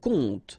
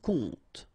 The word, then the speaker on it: conte: Un conte. So exactly the same pronunciation, but then of course the meaning is different. Un conte.